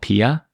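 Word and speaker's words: PiAI: this today it's it's called Pia it's spelled Pi AI but it's even Up's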